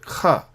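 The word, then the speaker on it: ך: This final kaf is pronounced kha, as though there is no Dagesh.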